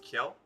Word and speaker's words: Kiel: The main setting of the game is in the northern German city of, I believe it's pronounced Kiel.